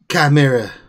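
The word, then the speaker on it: Chimaera: How do you pronounce the ship again? Chimera.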